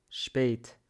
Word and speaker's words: spät: Vater, Vater, Väter, Väter, ich, Nil, Nil, geht, geht, spät, spät. Когда S перед P, мы произносим S как Ш.